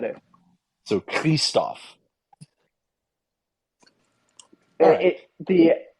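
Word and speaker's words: Kryvtsov: Sergei Kristov. Sergei Kristov. Sergei Kirstov. Kirstov. Ah, Kirstov. Thank you, Callie. Krivstov. I asked my Ukrainian friend. So you could pronounce it three different ways.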